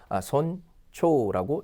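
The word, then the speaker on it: 尊重: 또 뭐가 있습니까 신중하다 그때도 그죠 신주가 아니라 신초라고 읽으셔야 되죠 신중하다 그다음 뭡니까 누구를 존중하다 할 때 이때도 마찬가지로 손초라고 읽으시면 되겠습니다이 외에도 사실 좀 많이 있습니다 더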